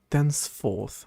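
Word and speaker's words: thenceforth: Dense forth. Dense forth. Is that how you even pronounce that word? Both sides of the connection must honor this limit. Then forth. Then forth. Okay, that's the British pronunciation.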